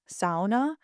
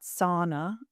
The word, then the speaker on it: sauna: In Finnish, sauna is actually pronounced sauna. So, the first part rhyming with cow, sa, not sauna as in English.